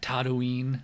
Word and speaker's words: Tatooine: How do you pronounce it? Tatooine.